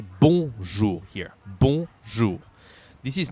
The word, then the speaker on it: bonjour: Bonjour. Be careful here of the pronunciation because most of the speakers, they don't know how to say O-N in French. So we don't say bonjour.